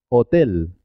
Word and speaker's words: hotel: suenan igual vino botella la h no tiene sonido es muda hotel hola y hay solo cinco